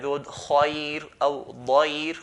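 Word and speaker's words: خير: Previous to that is a letter that has a fatha, like the word khair or dair. We pronounce the ra in a light manner. Khair, khair, dair, and so on.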